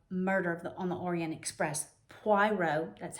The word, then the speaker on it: Poirot: Poirot, that's how you say it, Poirot reasons.